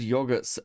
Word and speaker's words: yogurt: I haven't said yogurt. uh said like that. The yo is said like the greeting yo.